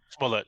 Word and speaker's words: Smollett: Smollett, yeah. Yeah, Smollett.